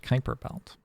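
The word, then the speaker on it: Kuiper Belt: for some X coming it's pronounced Kyper Belt look if I wanted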